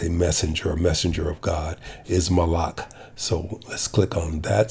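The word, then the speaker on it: מלאך: So the Hebrew word for angel is, as a messenger of God, is malach. So let's click on that speaker. Malach. Okay. Malach. Okay, that's the Hebrew pronunciation.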